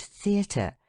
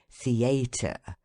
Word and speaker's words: theater: than the rest thus in the word theater the stress of the voice should be on the letter e and first syllable the and in contrary on the first syllable con how shocking it is to hear people say contrary theater the friends of Education